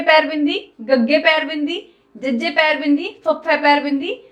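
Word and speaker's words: ਜ਼: जज्जा, ZAZZA, जज्जा, जज्जे पैर बिंदी जज्जा।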